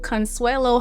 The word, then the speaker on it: Consuelo: I I tell people you can pronounce it if you could spell it with the s w a y. That's not how it's spelled, but that's how you pronounce it.